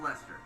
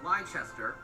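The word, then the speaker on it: Leicester: talk about lester and yes it is pronounced lester i know that's too stupid they spelled it like lychester and then they think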